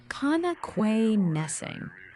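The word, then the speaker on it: Connoquenessing: It's Kanakwanesing. Say it fast, and it sounds like one word. Kanakwanesing?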